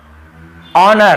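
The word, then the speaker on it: honour: देखिए ऑनर। हम इसे क्या पढ़ते हैं? ऑनर। ठीक है? ऑनर नहीं पढ़ते हैं। एच नहीं पढ़ना है।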